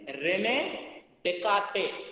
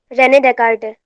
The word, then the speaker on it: René Descartes: The original pronunciation of this one is Rene Descartes. Descartes nahi. That is silent.